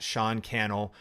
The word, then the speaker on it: Sean Cannell: And hit me up on Facebook, any of the platforms, at Sean Cannell, rhymes with YouTube channel.